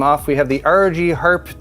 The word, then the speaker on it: Harpe: we have the ROG Harpe 2 Extreme. I'm not sure if you're supposed to pronounce the E. Is it Harpe or Harp? Yeah, Harpe. Perhaps just want to roll the R a little bit.